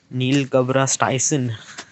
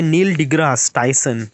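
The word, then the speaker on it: Neil deGrasse Tyson: Neil Gabra Styson like am I actually pronouncing this word properly.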